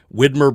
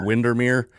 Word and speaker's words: Widmer: Like my father-in-law, Widmer Brewing, he grew up with Widmer Brewing. He's never going to stop calling it Windermere.